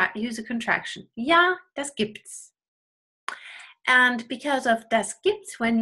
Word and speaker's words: gibt's: And there we often use contractions and we say, gibt's noch Brot? Gibt es noch Brot becomes gibt es noch Brot? Or gibt's noch Brot?